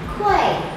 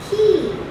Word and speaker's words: quay: This word, it looks like quay, because when you have A and Y, you tend to think it's like A in day or say or play. But this word is actually pronounced as key.